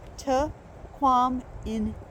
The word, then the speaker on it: Tahquamenon: So it's actually pronounced Tahquamenon. I'll put that on the screen.